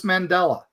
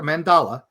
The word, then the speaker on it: mandala: Um, or just making a a solstice mandela. Not the Mandela effect, a mandala. Uh, sorry, I mispronounced that.